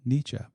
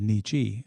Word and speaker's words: niche: correct me recently when I said uh niche and they said nichi. And I said no, I'm pretty sure it's niche. So anyway, wow. With a e with an e. They pronounced it nichi.